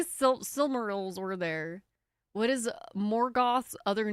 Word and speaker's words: Morgoth: What is Morgoth's other name? What did Sauron disguise himself as? No idea. Morgoth was, wasn't he the person who came before Sauron? Wasn't he like the big bad before Sauron? Morgoth.